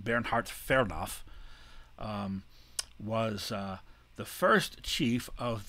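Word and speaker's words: Bernhard Fernow: his native pressure his name would have been pronounced bernhard fernoff was the first chief of the division of forestry that was established in 1886.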